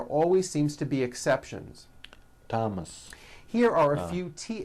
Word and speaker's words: Thomas: spelled with a th they are pronounced as if they were spelled with a normal T like that and these